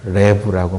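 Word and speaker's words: לב: 그렇게 발음해요. 히브리어로는 레브라고 말하는데 헬라어로 누스라고 말하는 것은 우리 마음에서 생각하는 어떤 부분 중에 우리 마음에 생각하는 기능이 있거든요.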